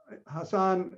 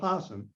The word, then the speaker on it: Hasaan: half years ago odin explained to me that hassan although the spelling with the two a's in the second syllable what makes you want to say hassan he actually called himself hasan so oh i'm trying to get i'm trying